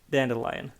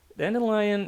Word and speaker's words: Dandelion: uh with an eye i prefer the pronunciation with an i because well it's a combination of dandy you know the uh male styling